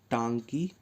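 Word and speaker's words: Ntangki: करेंगे इसका नाम है टंकी नेशनल पार्क यहां पर जो एन है वह साइलेंट है क्या नाम है इसका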